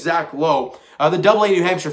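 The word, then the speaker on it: Logue: i think it's zach is it zach lowe something low l-o-g-u-e hey it's how you pronounce i think exactly i think it's zach lowe uh the double-a new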